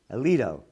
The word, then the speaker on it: Alito: court justice samuel a is that the correct pronunciation alito alito yeah and by the way